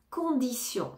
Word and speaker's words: condition: compagnie compagnie condition condition condition ici le T se prononce comm un S condition condition condition correcte